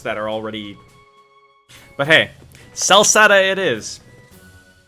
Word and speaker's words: Celceta: sell satay it is it was hard c versus softsie sell sata though no as in kel like c-e-l like the spelling's still the same it's just it's a hard c so pronounced as you would a k to an